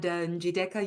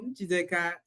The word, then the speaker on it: Njideka: And I got the idea of making it like a music so that the syllables can stand out for themselves. So Njideka is a Nigerian lady from the proudest tribe in Nigeria, Igbo.